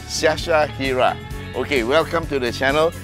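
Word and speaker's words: Syasyahiere: it's s-y-a-s-y-a-h-i-e-r-e yeah okay you're gonna break it up into three parts Sasha Hira okay welcome to the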